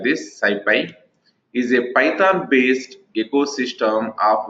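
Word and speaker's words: SciPy: go try to observe here the Skippy Skippy pronounced as like this Syfy is a python-based ecosystem of open source software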